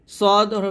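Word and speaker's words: ص: না তো যাই হোক সদটা আমরা মোটা করে উচ্চারণ করব সদ হরফটা মোটা করি আর চারটা নিয়ে পড়তে হবে তাহলে এটা হবে সদ সদ এখানে সদ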